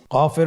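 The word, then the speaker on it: كاف: মাখরাজ স্ক্রিনে লক্ষ্য করুন এখানে আমরা মাখরাজের বা উচ্চারণের স্থান দেখতে পাচ্ছি কফের মাখরাজ হলো জিহ্বার গোড়া তার বরাবর উপরে তালুর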